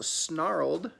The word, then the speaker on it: snarled: the end of words so snarled has a D it sounds like a D at the end even though it's spelled with the snarl plus an e D which means it happened